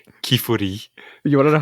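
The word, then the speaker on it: Qifrey: In Japanese, it's pronounced Kifuri.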